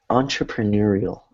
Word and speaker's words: entrepreneurial: entrepreneurial. Entrepreneurial. Right, so let's all say that together. Entrepreneurial. Entrepreneurial. Right, it's hard because it kind of looks like the word entree, right?